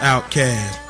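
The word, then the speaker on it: OutKast: Outcast, pronounced outcast.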